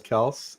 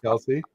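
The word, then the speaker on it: Kelce: So Travis says Kels and Jason says Kelsey?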